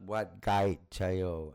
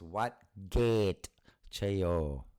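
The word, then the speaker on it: Wat Ket Chaiyo: It's not Wat Gai Chayo. It is Wat Gate Chayo.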